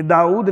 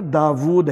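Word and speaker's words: داوُد: لفظ بولتے ہیں داؤد، یہ داؤد نہیں ہے، داود ہے، واو کے اوپر حمزہ نہیں ہے، واو کے اوپر الٹی پیش ہے۔ قرآن حکیم میں یہاں پر دیکھ سکتے ہیں آپ، داود ہے صحیح تلفظ۔ اور اکثر ہم بولتے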